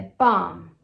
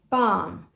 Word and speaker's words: bomb: E aí muita gente pronuncia bomb, bomb, mas não tem esse B no final. É bomb, bomb.